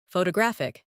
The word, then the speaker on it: photographic: In English, some words are pronounced with extra emphasis on one part. For example, photograph, photographer, and photographic. The stress moves, and that changes the sound.